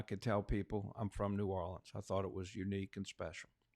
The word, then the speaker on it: New Orleans: A lot of people that I've talked to, they say, "Is it pronounced Narlands?" And I didn't hear that very much in New Orleans. What I heard was like I say it, which is New Orleans.